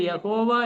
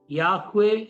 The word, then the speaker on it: യഹോവ: യഹോവ ഇത് യഥാർത്ഥത്തിൽ ഉള്ള ഈ അക്ഷരങ്ങളുടെ ഉച്ചാരണമല്ല, അല്ലെങ്കിൽ ദൈവത്തിന്റെ പേരിന്റെ ഒരു ശരിയായിരിക്കുന്ന ഉച്ചാരണമല്ല.